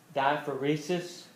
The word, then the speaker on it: diaphoresis: medical term for sweating starts with the D diaphoresis I mean sweating daya fourth and Risa's spelled phonetically it's it's belt like it sounds except